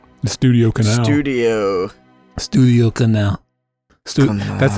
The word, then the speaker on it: Canal: studio Canal studio studio Canal that's that's actually pronounced it's canel it's pronounced Studio Canal oh oh we got